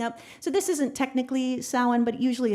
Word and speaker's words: Samhain: So that is how you spell Samhain. That's how you say it, Samhain, for Samhain.